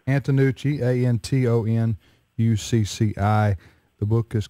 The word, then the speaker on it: Antonucci: How do you pronounce it? Antonucci. Antonucci, Antonucci.